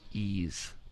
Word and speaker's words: Ys: pee so bad okay evan do you know how to pronounce this title no it's ease ease memory of calcutta